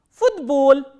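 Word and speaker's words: футбол: Football, football. So, this t will be pronounced as its voiced counterpart, which is the.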